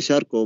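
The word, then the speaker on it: Charcot: التي هي كلمة فرنسية لا تلفظ، شاركوت بيكتبوها شاركو.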